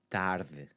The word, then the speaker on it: tarde: You want to soften that D sound to go from a D to a th, tarde. Okay, so the TH is what I usually tell my students to kind of aim for. It's not necessarily a TH, but it's closer to a TH sound than it is to a hard D, like in dog.